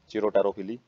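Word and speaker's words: Chiropterophily: तो बैट के द्वारा जो पोलिनेशन करवाई जाती है उसको चिरोप्टेरोफिली बोलते हैं। चिरोटेरोफिली ही साइलेंट है इसमें।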